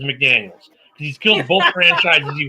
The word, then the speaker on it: McDaniels: No, it's not Josh McDaniel. Got to say his name right. Josh, I kill franchises McDaniels.